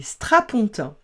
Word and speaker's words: strapontins: Les strapontins. Vous savez, ces fauteuils qui se lèvent et qui s'abaissent, avec un S qui s'écrit et ne se prononce pas.